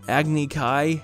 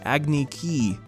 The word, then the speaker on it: Agni Kai: Agni Kai, Agni Ki.